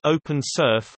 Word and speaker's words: OpenSRF: Evergreen also features the Open Scalable Request Framework (OpenSRF), pronounced OpenSRF, a stateful, decentralized service architecture that allows developers to create applications for Evergreen with a minimum of knowledge of its structure.